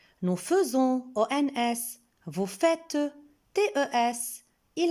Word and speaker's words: faisons: Je remarque qu'avec le pronom personnel nous, on voit dans le verbe est, AI, mais on prononce E et on dit nous faisons.